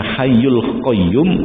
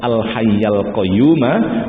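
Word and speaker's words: الحي القيوم: nilai bilangan maupun non kalau dibaca hayyul qoyyum itu boleh tapi tidak benar bacanya Al Hayyu Al Qayyum wa atubu ilaih menurut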